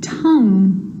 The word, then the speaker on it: tongue: Words like guitar and guilty and tongue and guard, colleague, guess. It's also not usually pronounced in adverbs like beautifully, wonderfully.